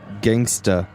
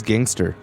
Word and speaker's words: gangsta: Recently, in a pretty high-profile competition, I lost points for mispronouncing the word gangsta as gangster.